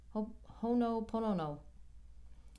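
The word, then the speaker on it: Hoʻoponopono: I know it's, you say it fast and it runs together. It's ho'opono. Ho'oponopono. It's Hawaiian. It's about the steps of forgiveness.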